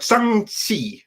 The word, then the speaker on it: Shang-Chi: So no, it's like Shang-Chi or something like that. That's how it is supposed to be pronounced.